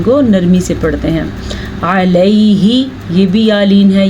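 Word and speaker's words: على: علی رسولہ، عین کے تلفظ کا خاص خیال رکھنا ہے. اگر آپ اس کو پڑھیں گے الا تو غلط ہے، آلا پڑھیں گے تو بھی غلط ہے.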